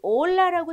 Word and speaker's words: hola: 여기 보이시면 H는 묵음인 거 아시죠? 여기 올라라고 써져 있는데 H는 묵음입니다. 자, 소리를 내지 않아요.